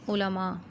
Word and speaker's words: علماء: العلماء کا خطاب ملا۔ آپ نے تلفظ پہ خاص طور پر غور کرنا ہے، کیونکہ اکثر لوگوں کا، بلکہ ہمارے ہاں اردو کا تلفظ بہت حد تک بگڑا ہوا ہے اور ہم اس کو علماء پڑھتے ہیں۔ جو لفظ عربی سے آئے ہیں، عربی میں ان کا جو تلفظ ہے اردو میں بھی وہی استعمال ہوگا۔ اس کو ہم علماء نہیں کہہ سکتے، عالم کی جمع علماء، ٹھیک ہے۔ اسی طرح